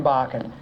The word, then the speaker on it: Bachan: My name is Bachan. It rhymes with rocking Bacan.